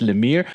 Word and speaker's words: Lemire: comics medium is capable of roughneck by Jeff Lemire I was told after I mispronounced his name in another video that it's pronounced in a mere roughneck by Jeff Lemire is a really good